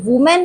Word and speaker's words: women: है मैन, और ये वुमेन है, इसका जो प्लूरल होता है वो WOMEN होता है और इसका प्रोनाउंसिएशन होता है विमन।